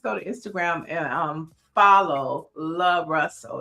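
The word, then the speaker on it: Luh Russell: I had booked him for something week before last, and his team sent back L-U-H Russell, so that it would be pronounced right. So it's Love Russell.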